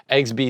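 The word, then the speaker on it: exbi: So it's me-bi, kibi, mebi, gibby, tebi, pebi, egsby, zebi, and yabi. That's how you pronounce them.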